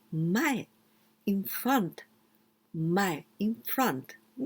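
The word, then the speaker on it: 前: Well, Sakura, cherry blossom, Zen, this kanji, the second one, you can pronounce mae, in front, mae, in front, mae.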